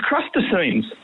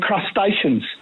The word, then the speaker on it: crustaceans: My niece said to her mom, "Mom, you said it contains crustines." And when she looked at the box, she meant crustaceans.